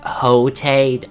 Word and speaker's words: Quixote: this guy's legit nuts his name is Don Quixote pronounced a hotate don't ask me how